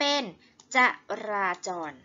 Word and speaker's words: จราจร: จอด หรือ ครั้ง นี้ จอ ออ รอ จร รวม กัน เป็น จราจร นะ คะ ครั้ง นี้ ทำไม อ่าน ว่า จราจร ทำ นี้ ก็ คือ สระ อะ รถ รูป เหมือน กัน เป็น สระ อะ แต่ ว่า เวลา เรา เขียน เรา จะ ไม่ เขียน สะอาด เหมือน อัน นี้ เลย เหมือน อ่า เนี่ย เหมือน